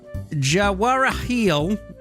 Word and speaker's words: Jawaharlal: Jawaharlal. Jawaharial.